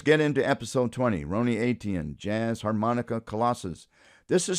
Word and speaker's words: Eytan: Ron's last name is pronounced aten.